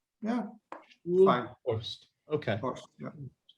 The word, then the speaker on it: Stoelhorst: Stoelhorst. Stoelhorst. Stoelhorst. Yeah. Stoelhorst. Okay. Horst, yeah. Stoelhorst.